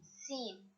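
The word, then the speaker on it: سين: So the sound of this letter is Sin. Sin. But the pronunciation when you need to read it, you will not say Sin all the time. You will say Sa or Is. Sa or Is.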